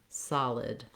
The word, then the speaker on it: solid: So making sure you have a nice length on your first syllable, saw, and then short on your second syllable, lid, solid.